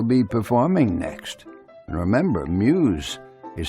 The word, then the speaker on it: Meuse: And remember, Muse is spelled M-E-U-S-E.